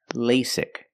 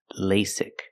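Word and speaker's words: LASIK: lasic surgery first pronunciation lasic the first vowel is a long a like say and day l lasic the second vowel is a short I sound like this is lasic lasic surgery pronunciation surgery use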